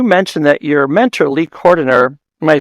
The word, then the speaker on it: Cordiner: So you mentioned that your mentor, Lee Cordiner, am I pronouncing his last name right?